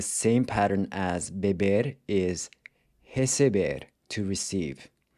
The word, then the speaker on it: recebe: Another ER verb that follows the same pattern as beber is receber, to receive. So you have recebo, pronounced with a closed E, then recebe and recebem are pronounced with an open E.